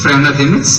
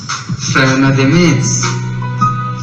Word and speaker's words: Freinademetz: मेरा नाम जोसेफ फ्रेनादेमिट्स है। क्या नाम है जॉन? पेस नहीं, फ्रेनादेमिट्स।